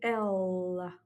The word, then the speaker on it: ela: À noter aussi que la prononciation du L est un peu dans la gorge. C'est pas simplement ella, mais ella.